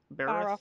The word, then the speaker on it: Barroth: We're gonna be fighting two Barroths. Is that how you say it? Barroth? Baroth, yeah. Baroth, okay. Don't ask me how to pronounce most of these names.